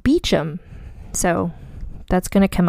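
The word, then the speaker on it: Beauchamp: c h m p bamp I would think but in fact because British people got to be British it's pronounced beachum so that's going to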